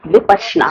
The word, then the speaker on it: विपश्यना: Correct pronunciation is विपश्यना।